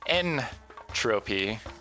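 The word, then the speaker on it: N. Tropy: N Tropy, or if you're bad at pronouncing things, Dr.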